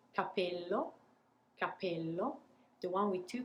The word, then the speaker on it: capello: So what we do is technically taking a little pause before we pronounce the P. So I'll show you one more time. The one with one P, capello, capello.